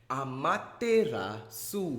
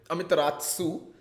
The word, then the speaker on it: Amaterasu: Amaterasu is what YouTube tells me how it's pronounced. So I was part of the chat as well that day in the ESL India Premiership match where there was Amitras spam going on. This is that's the thing, right? This is the evolution of me trying to pronounce Amaterasu's name. I started with Amitratsu.